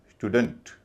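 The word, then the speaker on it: student: हल्का का मतलब अ डी ई एन टी का उच्चारण होगा डंट। पूरे शब्द को बोला जाएगा स्टूडेंट।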